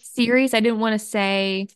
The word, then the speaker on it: Ceres: And how do you pronounce their name? Ceres, I believe. Ceres. I didn't want to mispronounce it.